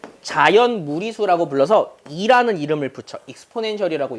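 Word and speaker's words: exponential: 익스포넨셜이라고 읽어요. 실제로 영어 표현은 엑스포넨셜이야. 엑스포넨셜.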